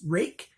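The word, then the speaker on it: Ruike: 3 next is a rake knife rui ke pronounced rake they own the knife they can decide how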